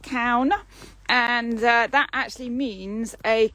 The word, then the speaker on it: Caune: name of the vineyard is like cow no so it's like a cow moo with an n on the end count and that actually means